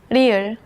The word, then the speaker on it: 리을: Its pronunciation falls somewhere between the English L and R.